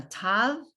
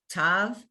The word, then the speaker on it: tav: It's all now tav, and it's T. It doesn't matter, a T sound, whether it has a dot in it or no dot.